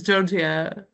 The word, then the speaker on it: Georgia: So, as Kira already mentioned, and I have to say with the correct pronunciation for Greeks, it's what I usually am called as Georgia.